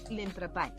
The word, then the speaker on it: l'entrepà: L'entrepà. L'entrepa, because the accent is at the end, so l'entrepa.